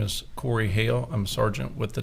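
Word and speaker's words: Corey Hale: My name is Corey Hail. I'm a sergeant with the Tallahassee Police Department and my name is spelled C O R E Y H A L E.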